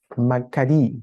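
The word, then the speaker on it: μακάριοι: Un diptongo que se pronuncia i también, así que se pronuncia macarí, ¿ya?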